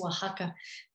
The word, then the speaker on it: Oaxaca: belonging to this place oaxaca i've heard several pronunciations that are some are very strange so i'll just stick with the more uh you know spanish-sounding one continues